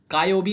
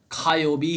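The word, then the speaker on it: 火曜日: का मत पढ़िए, कायोबी नहीं होता है, खायोबी ही होता है।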